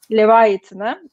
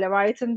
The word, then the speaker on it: Leviathan: Filmimiz de Andrei Ziyaginsev'in, biraz zor bir telaffuzu var, Leviathan'ı. Anglo-Saksonlar Leviathan diyor, biz Frankofonlar Leviathan diyoruz.